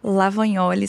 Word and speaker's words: Lavagnoli: tô lá no Instagram meu Instagram é lavanholi só que se escreve lavagnoli provavelmente vai est na